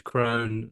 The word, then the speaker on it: Krohn: the exact same but my second name is Crone I get Crone Crone Crone cran all sorts